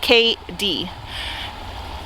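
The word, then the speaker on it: K'Dee: you spell it but it is and it is pronounced k d my mom is a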